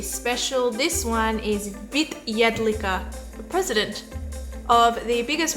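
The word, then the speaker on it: Jedlička: Vit, or President Vit Jedlicka. Is that correctly pronounced? Yeah, Jedlicka, if you're trying to pronounce my surname.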